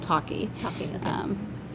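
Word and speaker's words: Tocky: an early it's called talkie talkie okay um it's kind of which is spelled differently it's like Clocky but with a t t o t o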